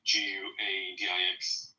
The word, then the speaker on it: Guadix: Well, Adix Al-Andalus, I don't know how to pronounce that. Guadix. Shares things. Guadix.